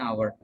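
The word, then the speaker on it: hour: एच है लेकिन यहाँ पर ओ है, ओ की आवाज़ आ रही है, हाफ एन आवर।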